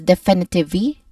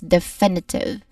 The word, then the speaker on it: definitive: e which means that this word has a silent letter e at the end we do not say it as definitive e we do not say it like that but we say it is definitive.